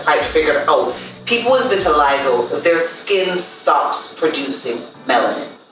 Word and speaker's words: vitiligo: first my skin condition it's called vitiligo v-i-t-i-l-i-g-o yes because some people don't know how to pronounce it and it's actually uh an italian word for white skin right and what vitiligo